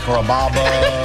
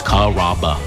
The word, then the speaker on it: Carrabba: Carrabba, Carababa, Caramba. It's a really easy name to pronounce. It's Carrabba.